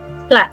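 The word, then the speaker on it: plait: And then this word ai, it has um the vowel letters ai, but it's pronounced as a. Okay. I'm platting my hair. Plat.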